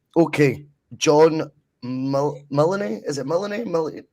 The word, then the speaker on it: Mullany: Is it Mullany? How would you pronounce that? Mullany.